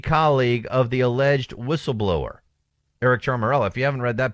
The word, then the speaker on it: Eric Ciaramella: of this CIA analyst, Eric Ciaramella, I believe is how you pronounce his name.